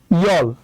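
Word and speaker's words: 열: ওকে, তাহলে এটা উচ্চারণ হবে আহব, আহব মানে হচ্ছে 9। ওকে, আচ্ছা, তারপর আছে হচ্ছে ইয়ল, ইয়ল মানে হচ্ছে 10।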